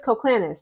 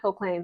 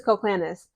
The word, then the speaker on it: Koclanes: Coach Chris Colclanis. That's how you pronounce his last name, Colclanis, not Colclains. I used to say that, sorry. His You pronounce his name as Chris Colclanis.